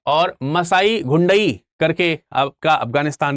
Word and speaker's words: घुंडई: इसके अलावा देह, इसके अलावा मोरास गुंडई, गुंडई, गुंडई नहीं है, घुंडई है, घा है, मतलब गा और घा का गुंडई ऐसे करके आप देख सकते हो।